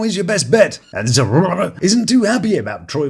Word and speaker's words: Zeruiah: Except Zeruiah because Zeruiah, yeah, it's sort of a mix of zero and diarrhea. Zeruiah. It's actually pronounced Zeruiah.